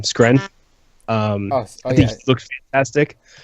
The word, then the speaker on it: Skrein: Skren.